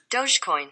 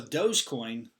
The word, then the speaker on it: Dogecoin: If I pronounce both of those correctly. Dogecoin. So Dogecoin, and who knows how I said it just a second ago, but Dogecoin.